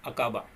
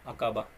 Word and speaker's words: Aqaba: Okay, so pronounce பண்ண முடியாது டக்குன்ட்டு. Gulf of அகாபா. Okay, AQABA, gulf of அகாபா.